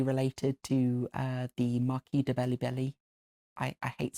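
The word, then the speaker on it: Balibari: to the Marquis de Bellibelli. I hate saying that word, it sounds so stupid. It's meant to be Bally Barry, but in an Italian pronunciation.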